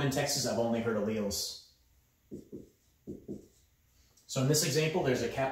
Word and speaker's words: alleles: I've always heard it pronounced alleles. It looks like it should be alleles. And there might be some parts of the country where they say it that way, but in Oklahoma and Texas, I've only heard alleles.